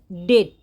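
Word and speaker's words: debt: your ডেট is increasing এই উচ্চারণটা ডেপ্ট হবে না উচ্চারণ হবে ডেট your ডেট is increasing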